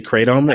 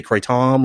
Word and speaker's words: kratom: lawyers in North Florida so we'll say kratom and any of our more enlightened listeners in San Francisco or Milan want to say cray Tom or whatever other pronunciation they can do that it's